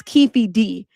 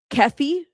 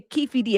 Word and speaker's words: Keefe D: we know him as Kei D. Even though it's spelled by the state ke F Keffy, it's Kei D. Okay, don't get caught saying Keffy D. Okay. Say Kefi D and correct the person because then you gonna get people correcting you.